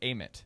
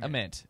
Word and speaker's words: Ament: of Nate Ament who I did learn it's Amit. It's not AIT. It's Nate Aement uh that we saw this week. That's news to me as well. I didn't know it was Nate Nate Ament.